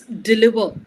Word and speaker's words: deliver: you just uh pronounce deliver once? Deliver. Deliver. Yeah. So, uh here delivery. I said no. Yes. So, the stress shouldn't be on the lee, it should be on d deliver.